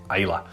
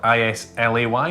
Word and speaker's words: Islay: Coast of Scotland to a little island called Isla now it is spelled i s l e y so it looks like Isley but is pronounced